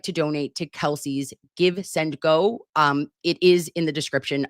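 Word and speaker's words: GiveSendGo: It's not gives and go because that's what I was Googling to try to find it again. It's give, send, go. Been saying it wrong for, I don't know, at least 2 years.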